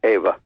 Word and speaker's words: Eva: The parents, if Adolf and Eva were the Ava or Eva, what's the formal pronunciation? In German, it's Eva.